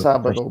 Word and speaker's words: sábado: sábado, by the way. Sábado. Of course it is, because the accent is on the A, James.